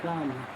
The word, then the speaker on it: Palmer: It would sound like Palmer. My Palmer. Yeah, the L silent, yeah.